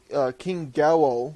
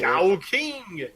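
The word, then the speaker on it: GaoKing: So, after the Zord fighting and random clip, the main Zord, King Gao, I believe that's how you say it. Gao King! Yeah, Gao King shows up with a soul bird installed.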